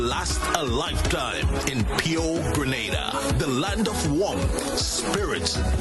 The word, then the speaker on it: Grenada: Grenada. Say it right. Grenada. That's right. Grenada. There we go. Say it right. It's Grenada. It's not Granada. It's Grenada.